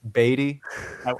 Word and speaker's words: Beatty: It's pronounced Beatty, by the way. Beatty.